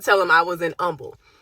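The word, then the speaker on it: Humble: and I would tell them I was in Umble. It's pronounced Umble, but it's spelled H U N B L E, right?"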